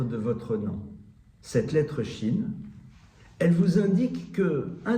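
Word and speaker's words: ש: La lettre chine qui se prononce ch.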